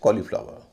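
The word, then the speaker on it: cauliflower: उच्चरण लंबा होता है एक शब्द ऐसा है जहां एयू का उच्चरण छोटा होता है व शब्द है कॉलीफ्लावर सी ए यू एल आई एफ एल ओ डब्लू ई आर कॉलीफ्लावर इस कॉलीफ्लावर नहीं कॉलीफ्लावर एयू के दूसरे उच्चारण भी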